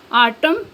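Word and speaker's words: autumn: next है silent N एन इज not pronounced N pronounce नहीं किया जाता या एन आवाज नहीं देता following M एट द एंड ऑफ a word जब किसी लज के आखिर पर एम के बाद एन आए तो प्रोनाउंस नहीं किया जाता for example आटम him next है साइलेंट पी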